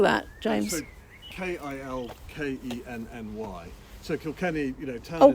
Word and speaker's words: Kilkenny: in kilkenny marble how'd you how did you spell that james k-i-l-k-e-n-n-y so kilkenny you know oh kill kenny kill